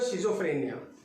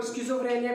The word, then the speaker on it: schizophrenia: बात करेंगे जो है शिजोफ्रेनिया। कहीं कहीं भी इसका नाम स्किज़ोफ्रेनिया भी देखा गया है, जो अपने अपने प्रोनाउंसिएशन के ऊपर डिपेंड करता है।